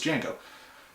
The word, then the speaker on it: Django: And of course, Jamie Foxx's character says Django. And Francisco Negro asks him if he could spell it. So he spells out the name, says the D is silent, and Francisco Negro kind of does that look of, I know.